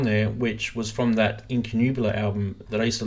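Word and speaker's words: Incunabula: very very first album which is called in in canoe blur or sunrise I don't even remember how you say it let me just look it up quickly so I'm not being stupid here we're going yeah actually got it right in canoe Bueller so that was released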